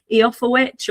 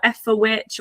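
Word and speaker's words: Eoforwīc: And for people who are not aware, Eofferwitch or Efferwitch or Efferwick or whatever, depending on your pronunciation of Old English, it is the Old English word for York.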